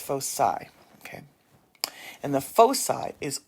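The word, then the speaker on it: foci: It is not folky. It's fossai. It's fosai.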